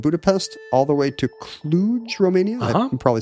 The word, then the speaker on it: Cluj: I've just been on a road trip from Berlin to Romania via Prague and Budapest, all the way to Cluj, Romania.